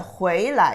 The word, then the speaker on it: 回来: 来 itself is a second tone, but 回来, you come back. Here you only pronounce it light touch tone, 回来.